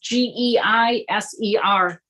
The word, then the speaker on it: Geiser: I'm not sure how you pronounce the last name, sir. It's Geiser.